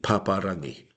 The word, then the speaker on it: Paparangi: It's often people who are looking at it in terms of English language syllables, pap, a, rang, e. No. What we do is we break it up, stop at the vowel. Pa, ra, ngi, paparangi.